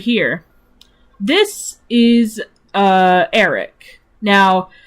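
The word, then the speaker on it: Aeric: This is, Eric. Now, you would think that it was spelled like E-R-I-C, but no, it's not. It's spelled as A-E-R-I-C.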